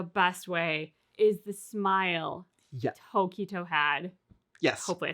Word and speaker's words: Tokito: So the emphasis is on to. Yeah. Tokito? Yeah, Tokito. Okay. Not Tokito. Don't say it too fast.